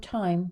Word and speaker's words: time: the a sound now the e in the word time doesn't have its own pronunciation so it really means nothing other than the spelling and how it makes the I in the word time a long vowel instead of a short vowel but it has no